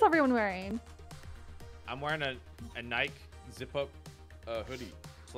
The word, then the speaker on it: Nike: I'm being informed it's Greek, and that's why it's pronounced Nike.